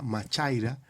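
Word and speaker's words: μάχαιρα: Cuando Hebreos 4:12 dice más cortante que toda espada de dos filos, hay una palabrita griega que se pronuncia machaira para referirse a espada, y eso habla de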